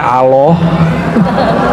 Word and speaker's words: Allah: saya orang Sunda bacanya Allah ya Al Allah itu bukan dia lam ketemu lam Allah harus disambung bukan mati deh Allah Ya, secara huruf alif lam lam ha secara huruf empat ya, tapi ternyata lebih.